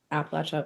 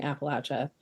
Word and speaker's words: Appalachia: I don't know a lot about Appalachia or Georgia. Also, as a side note, one of my students yelled at me for saying Appalachia.